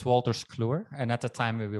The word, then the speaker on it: Wolters Kluwer: Your first major role was as an IT consultant is it Wouters Flumer? Is that bad pronunciation? No, so I, yeah, it's Wolters Kluwer, and at the time we were not called that.